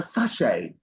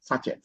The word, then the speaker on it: sachet: is pronounced s sh the t is silent and the E is giving us the sound a so it's like sash Sach say a Sach of water a Sach of milk a sachet not saet okay good